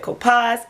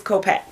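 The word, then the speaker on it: Kopacz: how to pronounce so I just went with my own and I said copas it's copax okay this story and for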